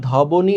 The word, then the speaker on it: ধ্বনি: যেমন ধরো এই যে শুরুর ব্যঞ্জন বর্ণটার সাথে ব আছে, তাহলে এটা ধবনি হওয়ার কথা ছিল না, কিন্তু আমরা উচ্চারণ করছি ধ্বনি। তাহলে বটা কোথায়?